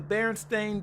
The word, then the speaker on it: Berenstain: know some of the big Mandela effects the berenstain bears they are the way it's spelled Berenstain that's how it's spelled and pronounced